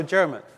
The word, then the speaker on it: Diarmuid: So if you think of Kermit and just take away the K and put in a J, that's kind of how you say my name, okay? So Diarmuid, yeah.